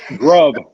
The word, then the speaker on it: Grubb: I think I might have mispronounced it. You ain't gonna come in with saying somebody's last name is Rub after I say they're about to flame out. All right, Grubb, yes.